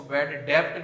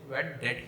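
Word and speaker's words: bad debt: और बेटा इसको डेटर भी बोला जाता है, डेटर, डेबिटर नहीं बोलते हैं इसको, डेबिटर नहीं बोलते हैं इसको, बैड डेब्ट नहीं बोलते हैं इसको, बैड डेट ही बोलते हैं। इस तरीके से इसका प्रोनाउंसिएशन होता है, ठीक है।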